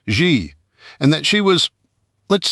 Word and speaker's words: Xi: Her pronoun was Eeks E spelled the letter X, then the letter I, but pronounced Xi.